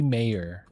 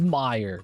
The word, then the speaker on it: Meyer: but I've kind of just assumed D Mayor, like the mayor of the city. It is Meyer, god damn it. Just like the store on the East Coast.